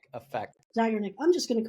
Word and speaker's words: Zeigarnik: Zeigarnik effect. Zeigarnik.